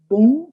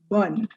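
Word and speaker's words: bonne: For the first word, dear learners, note it's not bon, it's bun.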